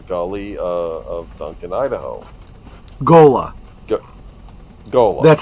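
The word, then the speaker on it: ghola: Gola Gola. That's how it's pronounced.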